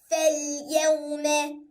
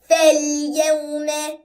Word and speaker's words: فَالْيَوْمَ: So the silent letter is highlighted with red, and it has no sign on it, so we don't make any sound at all. And we read it like this. فَالْيَوْمَ.